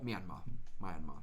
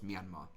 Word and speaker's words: Myanmar: Burma or Myanmar. Someone correct my pronunciation. I'm pretty sure it's Myanmar.